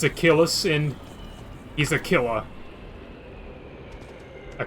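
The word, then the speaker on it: Aquilus: to keeper ailis or as they pronounce it it's aquilis I I refuse to pronounce it aquilis it's a killis in he's a killer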